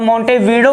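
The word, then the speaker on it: Montevideo: मोंटेवीडियो करके पड़ता है, लेकिन मोंटेवीडियो कहा जाता है, क्या कहा जाता है भाई साहब? प्रोनाउंसिएशन क्या होगी? तो मोंटेवीडियो होगी।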